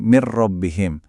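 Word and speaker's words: من ربهم: Min rbihim langsung ditabrak jadi mirrobbihim.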